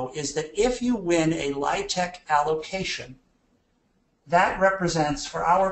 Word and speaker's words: LIHTC: Now, LIHTC, first thing of jargon, you have to pronounce it LIHTC. Pronouncing it any other way casts you as an outsider.